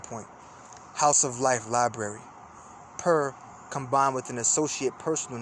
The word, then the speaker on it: per: is signed it assigns it the value of per so they just say per but purely on